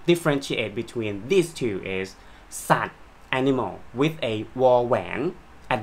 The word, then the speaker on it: สัตว์: a ย ยักษ์ ส Animals and SAT honesty Well They Have the Same pronunciation but Are written differently OK and the Language